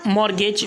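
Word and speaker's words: mortgage: कोई चीज़ को गिरवी रखना या फिर उसे मतलब बंधक बनाए रखना तो उसे हम कहेंगे मॉर्गेज। यहाँ पर जो है तो मॉर्गेज मतलब T साइलेंट है।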